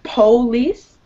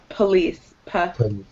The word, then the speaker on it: police: Instead of police, it's police. Like this. Police. Good. Yeah, don't emphasize that O so much.